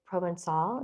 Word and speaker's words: Provençal: This is very Provençal. Is that how you would pronounce it?